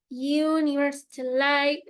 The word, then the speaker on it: university: University, like low Y, ¿no? Como una Y o una J muy suavecita, ¿no?